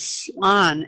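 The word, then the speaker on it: слон: Russian for elephant is slon. S as in Sam, L-O-N. Slon.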